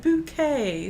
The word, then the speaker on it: Bucket: last name is actually bucket and she refuses to be considered bucket it so she says it's pronounced bouquet so yeah I love